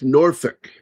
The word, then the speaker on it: Norfolk: Yeah, and it's not fuck, it's Norfolk. It's almost like a feck.